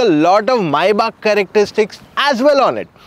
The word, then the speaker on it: Maybach: जी हाँ, क्योंकि एक जर्मन ब्रांड है, इसका सही प्रोनाउंसिएशन इज मायबाक, और इसे GLS पे हमने ऑलरेडी आपके लिए वीडियो शेयर किया था।